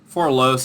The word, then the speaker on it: Forlos: The Farrar will need new soldiers to wield the Forlos. I can't remember how I decided to pronounce it. Forlos is usually how I say it.